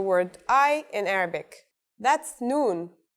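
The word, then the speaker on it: نون: I in Arabic that's noon the noon is pronounced just like the English n pretty easy right it's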